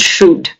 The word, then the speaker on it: should: when you read them you do not pronounce any L you say would could and should not would could should no would could should